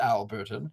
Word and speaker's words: Albertum: as his oldest friend albertum pronounced Alberton and whom we'll meet